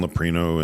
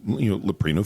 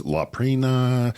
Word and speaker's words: Leprino: And so I keep mentioning Leprino Foods, and I say it correctly, but she can't. She's Laprina and Prino, and she just can't get it.